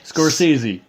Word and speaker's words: Scorsese: Now I'm not going to make a fool of myself because I know for a fact I cannot pronounce the guy's last name. Okay, it's Martin Scorsese. Scorsese.